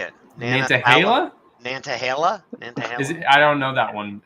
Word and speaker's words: Nantahala: Forest is Nan how do you say it Nantahala I don't know that one is it spell